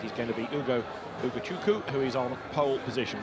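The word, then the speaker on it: Ugochukwu: we were educated overnight that is a silent W so it takes a bit of getting used to having put the W in for years but uku is the driver on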